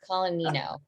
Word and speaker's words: Colannino: So without further ado, Miss, I'm so sorry, Colannino, did I pronounce that right? Close. Colannino.